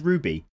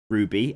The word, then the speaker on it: RWBY: Are you supposed to pronounce that as Ruby?